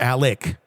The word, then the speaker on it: Alex: latest on Alex or Alec that drives me nuts I know they pronounce it Alec but it's spelled Alex so I know I'm